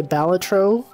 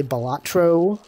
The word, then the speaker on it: Balatro: doesn't even pronounce correctly there is no correct pronunciation though that's the thing the developer of the game is like you know everyone was like how do you pronounce this game and he's like I don't know pronounce it however you want so some people